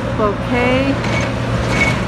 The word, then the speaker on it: Cloquet: the little town of bouquet minnesota spelled like croquet only with an l i don't know how